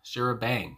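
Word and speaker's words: charabanc: goodness the shower bonk shara bonk i want to say uh and it says this is uh pronounced yeah shira bang shira bang okay i guess uh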